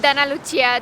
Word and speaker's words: Dana Lucia: I am Dana Lucia Yes, I know, it sounds strange, but that's the correct pronunciation in Romanian.